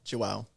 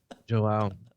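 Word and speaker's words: João: Man, Joao.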